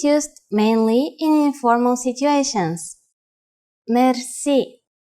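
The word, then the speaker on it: мерси: you will be amazed which word that is merci merci merci is a lone word from french but it is pronounced with the typical bulgarian heart are it is used mainly in informal situations merci how do you answer it's easy there are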